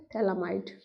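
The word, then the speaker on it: Phthalimide: थैलामाइड reaction, तो बेटा ये क्या है आपका थैलामाइड, बेटा पी इसमें साइलेंट होते, तो ये क्या है आपका थैला एमाइड, ठीक है, थैलामाइड।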